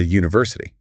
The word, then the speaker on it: university: You are physically forming the sound U. You know, you were starting with a consonant Y sound.